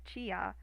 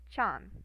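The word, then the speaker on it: ちゃん: You would have chi, ya, So what this does is instead of being like chia, they get combined because it's the I and the Y. They kind of sound similar, so they get mashed together. So it just becomes chan, like that.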